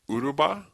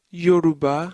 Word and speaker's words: Yoruba: So you can speak Uruba? Yoruba.